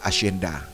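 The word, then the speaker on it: hacienda: Ang letter H naman pag sinulat mo sa salita, pag binigkas mo na ang salita, ang letter H ay umitid yan. Gaya ng asenda.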